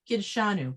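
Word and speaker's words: קִדְּשָׁנוּ: So I'm just Kiddushanu. wondering what's correct. Well, it's not kid, it's key.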